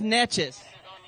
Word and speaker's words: Neches: And everybody says Neches.